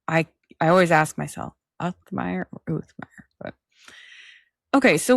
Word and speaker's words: Uthmeier: So, is it James Uthmeier or Authmeier? Authmeier. general. Yeah. Authmeier. I've been saying it wrong.